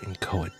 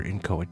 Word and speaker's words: inchoate: even heard the word inchoate before. So let's start with the pronunciation. Inchoate. I've heard other people say inchoate, but I'm going to go with inchoate.